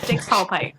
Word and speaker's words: Dix: the other the other test that I can't pronounce the digs digs yeah Dix thank you I've also heard that when people